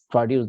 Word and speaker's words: produce: And if that word is a noun, it will be having the accent on first syllable, like produce, the fresh farm produce.